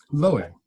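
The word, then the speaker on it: Loew: Bazalel and the Golem, and I hope I pronounced that correctly. Loe. Loe, thank you.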